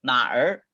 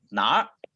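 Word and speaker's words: 哪儿: ini adalah nah eh dan pengucapannya disambung jadi satu ya bukan nah er tapi dibaca jadi nah nah itu kayak bahasa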